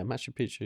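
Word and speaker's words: Machu Picchu: And he was telling me how him and his brother, do you know Mashi Picu? I think that's how you pronounce it. Yeah, Mashu Picchu.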